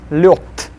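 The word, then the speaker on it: лёд: Lev will be pronounced as lev. Then the next one, sneg, will be sneg. Then lod will be lyot.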